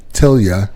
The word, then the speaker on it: Tilla: JFW extended family also my name is Tilla and she spelled it phonetically like till you hear from me